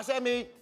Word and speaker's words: chérie: Chérie is the toughest things. It's the ri. The R, the French R, you cannot pronounce that if you're from the US, right?